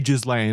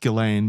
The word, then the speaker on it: Ghislaine: I say Ghislaine. I know it's pronounced Ghislaine, but at this point I'm too in deep